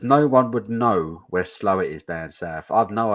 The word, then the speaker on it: Slaithwaite: Mark Jones says no one would know where Slowett is down south. I've no idea where Slowett is. Slowett is the next village for me. Slowett. Oh right, Slowett. Slowett is actually it's spelt Slaithwaite. Slaithwaite.